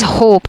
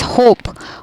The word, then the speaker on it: hope: This silent E will cause the O sound to be taken as long one. So it will be as hope. It is not hop, it's hope, home, note.